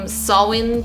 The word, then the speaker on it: Samhain: in scotland it is i'm just going to pronounce it the same sawwin but it's spelt like this and on the isle